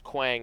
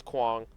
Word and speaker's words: Kang: It's like everybody says Quang, it's Kang. Kang is Korean. So that's why the pronunciation would be that way.